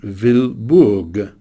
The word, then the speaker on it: Wilbur: Indeed, at some point, Picasso and Brock gave each other the nicknames of Orville and Wilbur, which they pronounced Orville and Vilborg. Brock being Vilborg and Picasso being Orville.